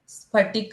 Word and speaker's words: स्फटिक: जाता है सिर्फ सनस्थ आगे का वर्ड है स्फटिक क का उच्चारण पूर्ण स्फटिक स्फटिक मणि मण निभ